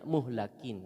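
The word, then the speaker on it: مُهْلَكِين: sesungguhnya mereka itu apa kalau lamnya dibaca kasrah jadinya menghancur tapi ini kan eh apa namanya orang kafir orang kafir yang dihancurkan kalau dihancurkan berarti maf'ul jadi bacanya muhlakin ya kalau Al muhlikin itu penghancur namanya harokatnya beda bisa salah artinya apa ya yaitu orang-orang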